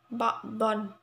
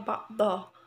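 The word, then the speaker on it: بعضا: Selanjutnya mad iwad, hukum bacaan mad iwad ba'don ya, tapi kalau berhenti di akhir kalimat bacanya ba'dho ya.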